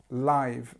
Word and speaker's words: live: corner this word live and it's live this is how we say I if something is like